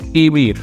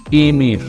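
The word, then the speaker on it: aimer: To like, which we say emir. Emir, guys. Try to pronounce it with me.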